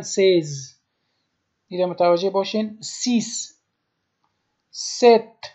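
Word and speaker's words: seize: به 6 میگن سیس و به 16 میگن سیز.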